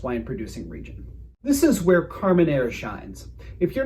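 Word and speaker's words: Carménère: It's Carmenere, not Carmenere. If you say nye and you're not a cartoon Russian, you're saying it wrong.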